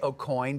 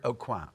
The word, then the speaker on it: Aucoin: the Kevin a qualm how do you say it well I say Aucoin because I'm American but right he preferred a qualm okay story it's available